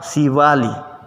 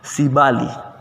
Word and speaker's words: sibali: jika menyampaikan menyebutkannya dengan sibali ya sibali pari misalnya siv sivali pari inilah yang kita maksud bahwa huruf b ini penyebutannya akan berubah jika diapit oleh dua huruf vokal si bali menjadi sivali ya kemudian huruf g